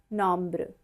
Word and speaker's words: nombres: Let's begin with the lesson number 2 today, French numbers 0 to 20, and we say it as les nombres.